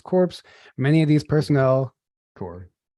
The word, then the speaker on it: Corps: Core. You don't pronounce it.